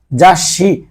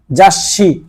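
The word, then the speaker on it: ざっし: আপনি এর জন্য সামনে একটা এইস ব্যবহার করবেন মানে ডাবল উচ্চারণের জন্য জাসি মানে আপনি নরমালি যদি বলতেন আপনার যদি এই ছোটা না থাকতো তাসি আর ছুটা থাকার কারণে জাসি মানে ম্যাগাজিন তারপরে যাইশিনগুন সিনগুন মানে হচ্ছে সংবাদপত্র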